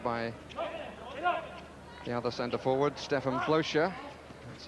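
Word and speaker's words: Blöcher: Brought out by the other centre-forward, Stefan Blocher. That's how he likes his name to be pronounced, although I must say many people in hockey have got used to calling him Blocker, so if Jim does that, I'm sure everybody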